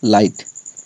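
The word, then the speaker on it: light: आया हुआ जीएच हमेशा जी एचटी में हमेशा जीएच साइलेंट रहता है तो इसको हम क्या पढ़ेंगे लाइट एल आई जी एचटी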